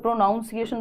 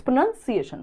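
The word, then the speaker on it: pronunciation: का प्रोनंसिएशन है ना कई लोग प्रोनाउंस एशन बोलते हैं बट इट्स प्रोनंसिएशन उच्चारण हाउ डज इट मैटर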